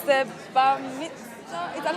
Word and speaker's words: bar mitzvah: I've learned that it's the bar mitzvah.